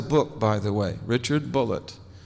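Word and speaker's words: Bulliet: He spells his name B-U-L-L-I-E-T, and he pronounced it Bullitt. He corrected me. He said, no, my name's not Boulier, it's Bullitt.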